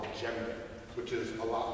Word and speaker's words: djembe: So all of these drums are basically child-proof replicas of a drum called the djembe, which is a lot like the one that I have here. Djembe is spelled D-J-E-M-B-E.